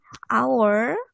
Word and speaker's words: hour: SMA pernah dipelajari kan membacanya bukan haur tapi hour and the next one